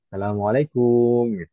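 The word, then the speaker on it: السلام عليكم: wabarakatuh Waalaikumsalam warahmatullahi wabarakatuh itu pengucapan salam sebenarnya itu seperti itu Asalamualaikum tidak ada Mad pada huruf Kaf tapi kalau orang kita memang kadang kebiasaan ditanjangkan Asalamualaikum Asalamualaikum kemudian berikutnya Aal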